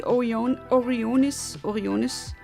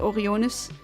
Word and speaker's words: Orionis: And yeah, we're gonna have this wonderful shiny Tubbit, named after the star Pi 3 Orionis, no, that's not how you pronounce it, Orionis.